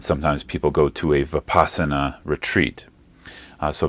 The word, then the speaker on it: vipassana: people go to a vipassana retreat uh so vipassana is how we pronounce it in uh Pali the pashana is how